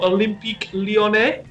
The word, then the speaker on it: Olympique Lyonnais: I'm currently in the French leagues at the moment, and I'm playing as Lyon, or Olympique Lyonnais, as it's pronounced in French.